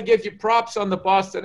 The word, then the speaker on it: Boston: miss that boston because i'll say where you're from i'll say boston and they go oh boston and i'm like did i say it like that it's b a w like bar like saw that that is my life's